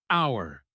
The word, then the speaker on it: our: In slow English, it rhymes with power. Hour. But in fast English, it often sounds exactly like the word are.